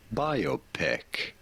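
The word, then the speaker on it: biopic: about pronouncing this word biopeck you do want to stress on the first syllable on the buy syllable buy your peck well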